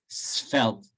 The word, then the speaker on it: svelte: at the beginning so you pronounce the s and then you turn it into a v s felt i know it what